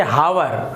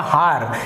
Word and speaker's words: hour: तो आप इसे पढ़ेंगे हावर। आप इसे क्या पढ़ेंगे, हावर या हार, इस प्रकार से आप इसका उच्चारण करेंगे। लेकिन यहाँ पर जो H है वो साइलेंट है।